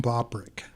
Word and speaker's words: Bobrick: hi what's your name my name is Bob Rick okay bobrick is that how it's supposed to be pronounced yes as a matter of fact well